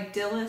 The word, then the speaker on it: Dilys: It was called Super Quick Baby Bonnet by Dilys Sutherland. And that first name is D-I-L-Y-S. I believe it's pronounced Dilys.